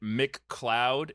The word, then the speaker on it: McLeod: yes I spelled it Mick cloud in the notes because that's how it's pronounced but it is Scottish so his name is like m-c-l-e-o-d like the cloud right exactly so